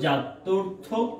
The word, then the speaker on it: জাত্যর্থক: থাকে, তাদেরকে আমরা বলবো জাত্যর্থক পদ। সবাই মুখে যে যেখানে আছে একটু উচ্চারণ করো, জাত্যর্থক। এই লাস্টে কিন্তু একটা ক বলেছি, লাস্টে কিন্তু আমি ক উচ্চারণ করেছি, জাত্যর্থক পদ।